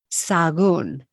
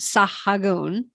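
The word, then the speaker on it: Sahagún: see is silent and it's got an accent mark So I say this one sagon sagon sagon forget the H so it's not sah noon love that one s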